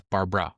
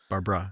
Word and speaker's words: Barbra: She also changed the spelling of her name. She got rid of the second A. Yes. She was born, she was born typical Barbara, and literally as an act of like rebellion in her teens, she got rid of the second A. So it's Barbra. Barbara, not Barbara.